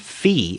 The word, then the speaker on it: Fee: are hachimaki Yuri and fee I guess you pronounced the fee it's f-e-e uh these are I